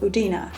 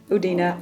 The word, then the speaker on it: Udine: esque old city of udina and I'm very sorry when I was in oudina I was calling it oudin I didn't realize the pronunciation the great thing about